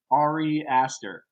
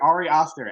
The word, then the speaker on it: Ari Aster: um harry i mean you can never say his name right ari aster there you go i'm like ari oster arias too many a's but those like those